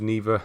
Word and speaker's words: Neva: I think it's pronounced Neva. That's how the main character says it in the uh in the game.